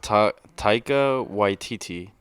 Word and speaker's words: Taika Waititi: I believe it's pronounced Taika Waititi.